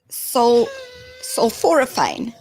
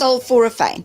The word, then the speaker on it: sulforaphane: How do you spell it? So, S-U-L, sulforaphane. That's what it is. Sulforaphane. Thank you. That sounds good. Sulforaphane.